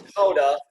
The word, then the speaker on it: Gouda: But what we do here at So Damn Gouda, and we know cheesemongers, that's not how you say it. You know it's Gouda, but it doesn't work nearly as good with the pun, which Dutch people don't get either.